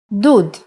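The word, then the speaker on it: דּוּד: like uh for example if we take the same letters from David and instead of we add shorok it will be dud electric water heater perhaps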